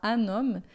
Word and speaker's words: un homme: rico, un homme riche, aqui a pronúncia a gente vai fazer uma ligação, vai falar un homme.